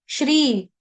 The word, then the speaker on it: श्री: ओम ओम श्री परमात्मने नमः यहां पर जो आप वर्ड देख रहे हो श्री ये दीर्घ है दीर्घ मतलब बड़ी ई की मात्रा लगी है शरबत का ऋ है ना तो बन गया आधा श और ऋ मिलाकर बना श्री आधा शलगम का